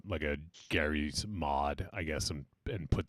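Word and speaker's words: Garry's: But apparently the Michael Jackson one is Gary's Mod. Yeah. Oh, okay. I think pronounced it Jerry's wrong then.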